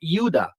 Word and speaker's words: Judah: their sins like the descendants of the yahudah or Judah or Yuda which is the true pronunciation of Judah they all failed in